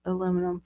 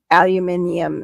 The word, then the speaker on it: aluminium: dinner you're welcome dinner heard the lady pronounce aluminum foil oh aluminium yeah aluminium is how the English say it kitchen foil yeah much